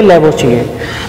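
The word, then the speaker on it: Lavoisier: Are silent है इसमें, इनको प्रोनाउंस करेंगे लैवोसिए.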